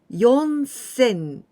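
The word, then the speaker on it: よんせん: four times sin so yon sen and here we don't pronounce shi sin we say we always with young yon sen four thousand five thousand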